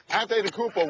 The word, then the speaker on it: Antetokounmpo: Antetokounmpo, Woody, that's how you pronounce it, and that's the choice here because